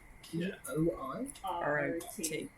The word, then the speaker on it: Poirot: Yes, I was thinking that it's, I have no idea how you spell that, but I'm going to spell it. P-O-I P-O-I R-O-T.